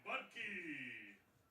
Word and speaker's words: Budke: Now at bat number 3, Caden Budke. He shook his head like I said his name. That's like the actual right way to say it. So it'll be Budke now.